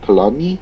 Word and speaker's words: Collodi: Collodi, I believe is how you pronounce his name.